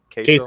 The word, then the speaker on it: queso: And you said queso? Yeah, queso. Queso, like Kayso.